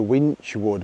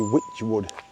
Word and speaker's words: Wychwood: Now, I think it was actually pronounced Ascot under Winchwood, but there's no N in winchwood. It's actually Witchwood.